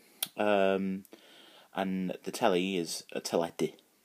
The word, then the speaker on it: teledu: A lot of people like watching telly, and the telly is a teledu. So so it starts very much like telly, so it's tele, and d, which is du, which is also the Welsh word for black.